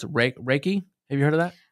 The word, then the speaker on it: Reiki: say it wrong, so I apologize, but it's Reiki. Have you heard of that? You said it right. Is it Reiki?